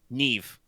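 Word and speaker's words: Niamh: Her name is uh so gay pronunciations. You pronounce this Neve.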